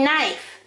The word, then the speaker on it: knife: this is a knife you don't say knife you say knife the k is a silent letter right down here let's